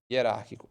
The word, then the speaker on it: hierárquico: time T temporário i hierárquico m motivado e é excepcional Ah mas é H não é i g é mudo né gente então é i hierárquico motivado e excepcional já que